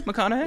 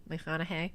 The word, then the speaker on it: McConaughey: Is he a major crush for you, McConaughey?